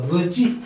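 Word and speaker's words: weji: 个词啊，哇喔的喔。扎遮鸡的鸡，所以说它读作喔鸡，哎，喔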